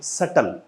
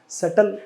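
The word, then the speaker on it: subtle: इसे बोलते हैं सटल। तो जो बी आपका है, ब साउंड जो है वो साइलेंट रहती है, इसे बोला जाता है सटल।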